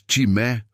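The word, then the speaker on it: τιμή: Quando damos timé, honra a um ungido de Deus.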